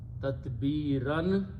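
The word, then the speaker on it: تتبيرا: So the word is tatbirun, and again it's coming as a maful sifat, tatbiran, and if you stop you pronounce tatbira.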